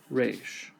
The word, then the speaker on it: resh: Resh sounds like the letter R. Now, in traditional pronunciation, uh it would have a rolled R, like rolled R. But, we don't do that. We just do the regular R.